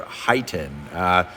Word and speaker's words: HEIGH10: from Stinger, the Stinger HEIGHten. Some people call it the HEIGH10. I believe it's pronounced the Heighten radio, which is their floating